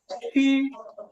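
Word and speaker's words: 吃: ছি, হ্যাঁ, সি এইচ, এর উচ্চারণ হবে ছ। কিন্তু ছটা কিভাবে উচ্চারণ হবে? ছটা হবে যে উচ্চারণ হবে আমাদের জিহ্বার আগা উপরের তালুর সাথে লেগে ছি, ছি, এমন সি, ছি।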